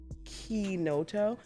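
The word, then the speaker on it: Chinotto: Yeah, and I know I messed up the way that I was supposed to pronounce it in the conversation prior. But it's called, the soda component is a Kinoto.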